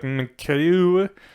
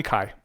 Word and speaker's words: MKAIWW: and I was like, MKU. Apparently, call me Kai. The M and the W's on the end are ignored.